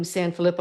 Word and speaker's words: Sanfilippo: Tell us a little bit about the Team Sanfilippo.